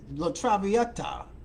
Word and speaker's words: La Traviata: in a performance of La travel let me pronounce this correctly it's called La tram la Traviata la travia la Traviata yeah I did that okay back in 1978